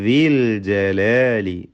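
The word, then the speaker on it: ذِي الْجَلَالِ: റബ്ബിക ദിൽ ജലാലി, ദാല് അതിൻ്റെ മഖ്റജിൽ നിന്ന് ഉച്ചരിക്കുക.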